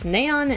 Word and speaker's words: Neon: It's naon and like anise.